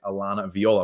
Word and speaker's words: Alana Viola: I'm joined by one of my amazing clients Alana Viola am I saying your name right you're saying